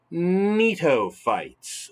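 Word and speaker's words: Gnetophytes: next we've got the neato fights the first g is silent so the neato fights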